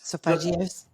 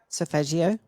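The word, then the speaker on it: solfeggio: I and I here's another word I never pronounced correctly so so sofael frequencies sophagios say that again sopagio Yes.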